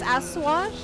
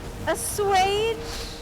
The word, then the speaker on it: assuage: That's not how you pronounce Asash. Wait, what? Really? Is that not how you say that? How are you supposed to say it? Let me Google it. Assuage.